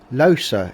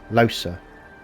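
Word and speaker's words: Lohse: Losa is the proper way of pronouncing it. Thank you, Malady. Been saying it wrong the whole bloody game. Losa.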